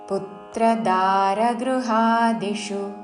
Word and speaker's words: పుత్రదారగృహాదిషు: అసక్తిరణభిష్వంగ పుత్రదారగృహాదిషు పుత్ర భూమిదాగాత పుత్రదారగృహాదిషు చివరిలో మూర్ధన్షు హ్రస్వము పుత్రదారగృహాదిషు నిత్యైంచ చసమచిత్తత్వం నిత్యైన్ నీ